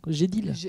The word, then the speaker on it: GDELT: Tu prononces ça comment? GDELT.